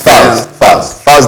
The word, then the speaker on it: Falz: How you pronounce it? Falz? Falz the bad guy.